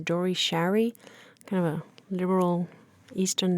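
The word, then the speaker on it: Dore Schary: the producer was uh I think his way to pronounce his name is Dory Sherry kind of a liberal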